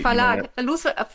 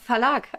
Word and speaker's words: Verlag: They are only thrillers, so they Verlag, Verlag. Yeah. Sorry, that's the American pronunciation. It's the Verlag.